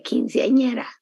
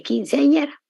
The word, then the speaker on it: quinceañera: Quin, se, an, hiera, hiera. No es muy fácil pronunciar la ñ.